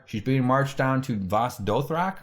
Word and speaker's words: Vaes Dothrak: She's being marched down to Vaes Dothrak, right?